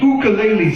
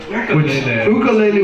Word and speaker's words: ukulele: All right, let me get your ukulele set up. Ukulele, which is the correct Hawaiian pronunciation.